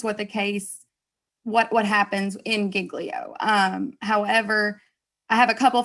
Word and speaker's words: giglio: So I wanted to take a second and talk about giglio, which Professor Cook very much informed me that is the correct pronunciation, regardless of what anyone else says.